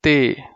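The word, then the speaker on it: ت: And then we have the fourth word, which is Te, just like talwar in Urdu, which means sword in English. Because te is the primary word that is used, primary component of the pronunciation of the word talwar, which is sword in English. Just like as T in tomato when it comes to English.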